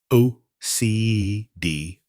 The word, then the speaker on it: acedia: Acedia, pronounced O-C-D, wasn't just another term for sadness.